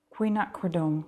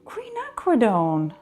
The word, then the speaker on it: Quinacridone: Queen Acacred. Quinacridone. That's not that hard.